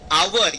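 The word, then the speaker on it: hour: आवर, यहाँ पर H silent है, एच का प्रोनाउंसिएशन नहीं निकालना है, आवर पढ़ना है, आवर, ठीक है।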